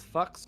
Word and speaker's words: FX: And then we have FX, which can be pronounced as fucks or fox.